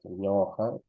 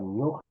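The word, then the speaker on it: ñuqa: Entonces, ñoja, ñoja, ñoja. No voy a pronunciar ñuja, ñuja no es, ñoja, ham, no es han,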